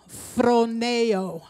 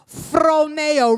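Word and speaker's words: φρονέω: Here's a Greek word for to think. It's phroneo. Now I'm going to have y'all going to have to talk back. Okay? Phroneo. Roll your R.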